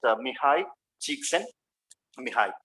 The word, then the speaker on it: Csikszentmihalyi: But actual pronunciation is just Mihai Csikszentmihalyi, and he is a great positive psychologist.